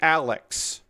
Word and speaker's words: ARX: It is spelled RGXARX-0, but apparently the first X is silent, and the ARX is pronounced Alex.